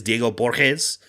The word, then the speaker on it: Borges: I don't know if Borges is, I did listen to Diego Borges say his name, and it is Diego Borges. So that is how he pronounces it.